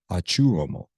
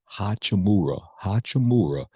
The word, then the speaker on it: Hachimura: And you had Achuramo, pronounced Hachimura. Sound like a Chinese name.